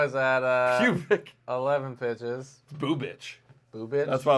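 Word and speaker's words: Bubic: Boo Bitch. Boo bitch? That's why I was getting on that, because it's pronounced Boo Bitch.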